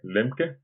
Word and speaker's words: Lemke: Y bueno, he pronunciado bien el apellido Lemque. Sí, sí, sí.